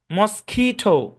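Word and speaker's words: mosquito: আচ্ছা দেখেন খেয়াল করেন এই শব্দের উচ্চারণ হচ্ছে মস মস খিটো এখানে খুইটো না মস্কিটো খি লম্বা টান হবে আর কি খি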